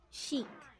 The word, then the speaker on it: chic: wash watch chanel channel chic cheek note that chic and chanel are words borrowed from french so the spelling with